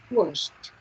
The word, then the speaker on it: washed: Washed. You pronounce like that. Esa idea suena como una T.